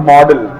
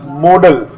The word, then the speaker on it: modal: We should not pronounce it modal or model. This is called modal.